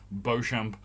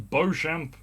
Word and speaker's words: Beauchamp: I say Beau because the word Beau is the name of the Birmingham City Football Club team mascot, Beau Brummie. It's spelt the same way Beauchamp is spelt.